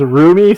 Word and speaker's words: Rumi: Because I'm gonna pronounce it as Rumi, so I do. Just because then it's more reminding me of Rumi as in roommate sort of idea, so letting you know that's how I'm gonna remember it.